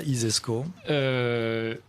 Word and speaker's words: ISESCO: Alors l'ISESCO, si vous considérez que ça, ISESCO, comme ça se prononce, ISESCO.